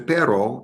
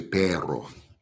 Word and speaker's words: perro: But sometimes they're like, come and get me, Tacos de perro. Got to work on my R's. All right, because perro, P-E-R-O is bud, but P-E-R-R-O is dog. And it's a little bit different pronunciation.